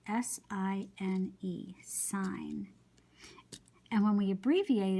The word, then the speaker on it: sine: So even though the word looks like you'd pronounce it sin, we know that's an abbreviation for sine. So we write S-I-N, but we say sine, okay?